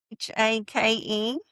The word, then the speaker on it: Haight: Hake. Is that how you would say it? Yeah, like rake. Cake? Yeah, that's how I say. Cake? If you're gonna rhyme with something, you might as well rhyme with cake.